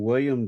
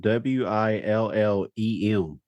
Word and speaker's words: Willem: interesting side note on William Defoe his first name is spelled w-i-l-l-e-m yeah it's Willem so I've I've just